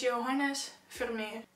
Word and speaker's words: Johannes Vermeer: So it's Johannes Vermeer. Johannes Vermeer.